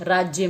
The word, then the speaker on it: राज्य: राज्य में रहते हैं और इसको जब हम बोलते तो अध ज का इस्तेमाल करते हैं क्योंकि उच्चारण में ज थोड़ा सा सुनाई देता है तो राज्य ज और य को एक साथ बोला जाता है और यह राज्य बन जाता है ठीक है आगे